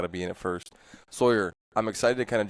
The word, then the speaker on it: Sawyer: Like Alex said, my name is Sawyer. I have lived in this area. Wait, have I been saying your name wrong? I always say Sawyer. You say Sawyer. Depends on how you say lawyer or lawyer.